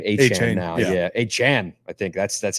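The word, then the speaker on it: Achane: have uh a I think I think he pronounced his name aan now yeah aan I think that's that's how he said he pronounced his name I've always called him Devon a chain a oh wow yeah I gotta go delete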